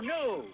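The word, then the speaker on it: gnu: knew if she and you knew the g is silent there's one thing you've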